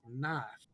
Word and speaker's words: knife: done with that one like knife why the is there K in front of that I don't honestly I